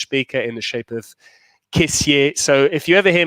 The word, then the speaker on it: Kessié: He calls himself Kessié, but there's an accent on the E, and every French broadcaster I've worked with has always called him Kessié.